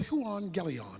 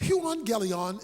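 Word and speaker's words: εὐαγγέλιον: the Greek word for gospel is the word Huang gelon that's how it's pronounced Huang gelion is simply translated good news so I got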